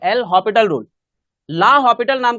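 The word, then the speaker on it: L'Hôpital: rule क्या बोलते हैं एल हॉस्पिटल मत बोलना भाई एल हॉस्पिटल रूल बोलता है टीचर लो प्रोनाउंस करता है एल हॉस्पिटल रूल पर वो हॉस्पिटल नहीं है एस है ही नहीं इसमें ठीक है एल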